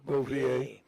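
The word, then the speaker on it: Bavier: reason I wanted to learn more about Francis Boe. Is that how you pronounce Francis Boier? Boier Francis Boier.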